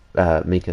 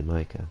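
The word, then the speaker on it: Minkah: I like Mika Fitzpatrick a lot. I also like that he calls himself Mika, even though it's clearly Micah.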